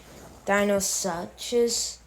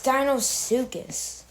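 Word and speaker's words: Deinosuchus: yeah so and there was some gu that pronounced it Dino suches it's Dino sucus and Siri goes ttin boa for Titan Boa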